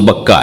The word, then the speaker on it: بکہ: بکہ مکہ، مکے کا دوسرا نام، مکے کا دوسرا تلفظ بکہ ہے.